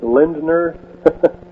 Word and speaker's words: Lindner: uh the Bushes stayed with the Lindner family Lindner family which is a they own Chiquita basically. Chiquita used to be uh United Fruit. All right, would you uh pronounce that name once again? Uh Lind- Lindner.